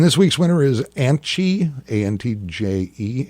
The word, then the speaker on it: Antje: And this week's winner is Antje, A-N-T-J-E. It's pronounced Antje, right?